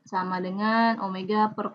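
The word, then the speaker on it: ω: Omega, dibacanya omega ya, W.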